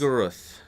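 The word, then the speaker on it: Shub-Niggurath: Shubnigoroth.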